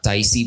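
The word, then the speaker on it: Tayc: En específico es un tipo que se llama Taïsi, pero se escribe como TYC, ¿sabes?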